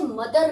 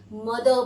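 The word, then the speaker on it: mother: अगर वाउल के जस्ट बाद आर है तो उस आर को साइलेंट कर देंगे और अब हम इसे मदर नहीं बोलेंगे, मदर बोलेंगे।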